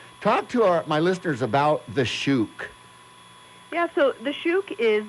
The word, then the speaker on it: Shuuk: about The Shook.